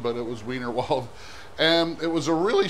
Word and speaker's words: Wienerwald: big German company called wienerwald chicken you know pronounced vinald but it was wienerwald and it was a really simple chicken and